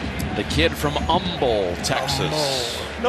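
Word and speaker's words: Humble: The kid from Umble, Texas. No hate. No H. They don't hate. No H. H is silent.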